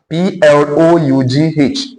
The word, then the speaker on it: plough: The soil type that will be most difficult to plow, P-L-O-U-G-H, in a wet season is one that is dash.